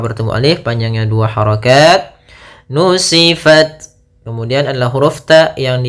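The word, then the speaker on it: نسفت: Ta itu adalah syiddah. Syiddah itu tertahannya suara. Kemudian hames mengalirnya suara. Itu yang paling tampak. Maka nusifat pertama gitu. Langkah pertama at baru kasih hames.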